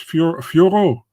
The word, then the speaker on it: Fiorot: Was perfect by Fiorot, and what's the weird pronunciation on the broadcast with the Fior? This man, it's Fiorot. It's not that hard.